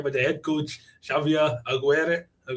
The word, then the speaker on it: Aguirre: the head coach, Xavier Aguirre. I think it's Aguirre, but nailed it. Aguirre.